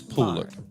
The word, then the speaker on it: Poolard: It's pronounced Pooh, as in you. Miss Poolard.